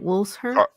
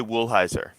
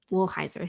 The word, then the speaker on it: Woolheiser: Can you pronounce that last name? Woolsher? Kay Woolheiser. Woolheiser, thank you.